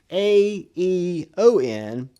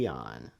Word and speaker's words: Aeon: It's spelled A-E-O-N, but I think it's pronounced Aeon.